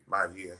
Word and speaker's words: Maivia: And in which Rocky, how do you pronounce his last name? Maivia.